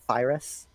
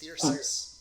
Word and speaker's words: Thyrsus: I was pronouncing it Thyrus. Yeah, I believe it's Thyrsus, but I might Yeah.